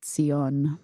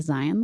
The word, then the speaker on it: Zion: It is a sade, so it should really be Sion, but Sion. you can go with Zion.